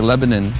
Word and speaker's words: Lebanon: It's spelled Lebanon, but here they say Lebanon, Tennessee.